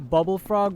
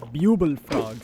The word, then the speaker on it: Bubble Frog: There's gotta be a bubble frog or I used to pronounce it a buble frog somewhere around here.